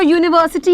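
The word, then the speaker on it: university: अब ये जो यूनिवर्सिटी है इसकी प्रोनाउंसिएशन यू है।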